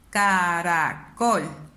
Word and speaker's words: caracol: en sílaba caracol caracol donde suena más mi voz en la esta palabra cada col me doy cuenta que su fila va tónica está aquí yo levanto más o hago más énfasis en col entonces esta es la